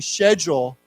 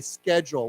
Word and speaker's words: schedule: So if you hear a British person like a Australian or British person and you hear them saying schedule it doesn't mean they're saying it wrong. That's the way they say it. But in a in American English, we always say schedule with a heart with a K.